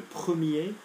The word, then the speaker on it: premier: Okay, remember, the masculine R doesn't get pronounced if there's no E after it. So, le premier, the first, familier, particulier.